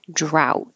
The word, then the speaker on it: drought: the end olives drought hold that final T and the vowel is ow drought and that will sound like drown because you won't hear the D so the rain ended the drought the boy drowned that's it and oath